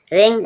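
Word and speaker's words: wring: W silent रिंग रिंग means निचोड़ना डब्ल्यू के बाद आर आया है W silent रिंग रिंग means निचोड़ना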